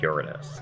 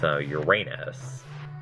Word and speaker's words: Uranus: I always say Uranus because, you know, it's a Greek word. So obviously you would put emphasis on, like, a different part of the word. But a lot of people use the anglicized pronunciation, which is Uranus, which puts the emphasis on the middle A.